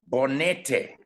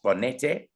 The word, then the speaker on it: Bonete: Bonete is the correct pronunciation of number 8. Bonete. It is Spanish, and it means a mountain in the Andes in Argentina.